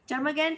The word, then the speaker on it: termagant: Then the next word is termagant. Termagant or termagant also sometimes we pronounce it as, meaning a very, very angry, bad-tempered woman.